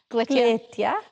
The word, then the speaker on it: Glytja: Glytja.